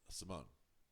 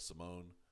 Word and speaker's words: Simon: they're using but um the way it's being pronounced in Swedish and the way it's being pronounced even on uh the English uh dub uh is Simone now I might say